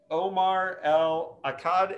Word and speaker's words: Omar El Akkad: a dying world is omar l akkad is that how you pronounce it i'm terrible with pronunciation but um no that was surprisingly well done okay um i appreciate